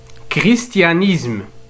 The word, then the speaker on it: christianisme: christianisme christianisme.